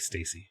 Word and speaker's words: Stacy: Is it Stacy? Okay. I didn't know. I've never heard it said, so I didn't know how to pronounce it. Thank you for correcting me. I'll endeavor to continue with Stacy as the pronunciation.